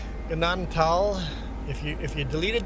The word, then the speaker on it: Gnadenthal: Ganaden Tal. Ignore the H. H is silent. Pretend the H isn't there. Ganadan tal.